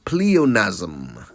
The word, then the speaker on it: pleonasm: question now that type of redundancy is called pleonasm such a nice word isn't it pleonasm p